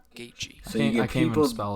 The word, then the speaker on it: Gaethje: You get people that look at it and it's like Gothja, Gothja. So, and nothing against him, obviously. Besides, he got dumb tattoos, but Gaethje.